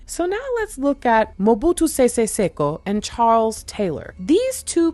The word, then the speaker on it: Mobutu Sese Seko: Mobutu Sese Seko, which is exactly what I thought I was going to say. So that's actually great. So now let's look at Mobutu Sese Seko and Charles Taylor.